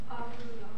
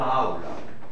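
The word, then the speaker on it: aula: 아울라 첫 번째 강세 뭐죠?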